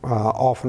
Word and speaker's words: often: I talk about here often on the show Even though in America they say often if the word is actually off on T is silent so I will say